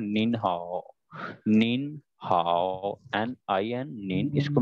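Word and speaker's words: 您好: So next, अगर एक से ज्यादा पर्सन आएगा या ये एम साइलेंट हो जाएगा? नहीं नहीं एन भी साथ स्पीक होगा, ये इसको हम स्पीक करेंगे निन हाओ. निन हाओ गॉट इट.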